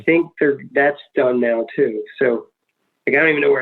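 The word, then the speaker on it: éS: But I'd say the best legit shoe that's still around, that's not going anywhere, it would be S Skateboarding, which is spelled ES.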